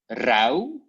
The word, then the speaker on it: rauw: In the pronunciation, there's no difference, but only with the writing. So you have like rauw in the writing and zout, but you pronounce it the same way. Au and au.